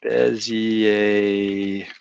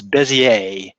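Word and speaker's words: Bézier: it right now uh bezi and I keep mispronouncing it it's beier but you know being an American I always want to throw that darn R in there b a curve okay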